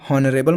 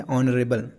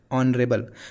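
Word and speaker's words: honorable: हॉनरेबल मत पढ़ देना। कई लोग हॉनरेबल बोल देते हैं।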